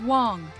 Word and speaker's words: Wang: Negative, Evelyn Wang. My ne- It's pronounced Wong.